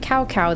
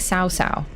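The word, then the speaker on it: Cao Cao: it's like Dynasty Warriors the name cow cow was pronounced like cow cow then later it was getting pronounced more like SAA oh interesting a lot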